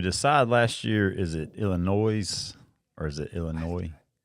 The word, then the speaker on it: Illinois: Is it Illinois or is it Illinois? Don't remember what we decided. The S is silent.